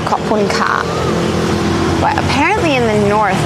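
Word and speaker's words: ขอบคุณค่ะ: in Thai when you say thank you, it's pronounced Khopun Ka.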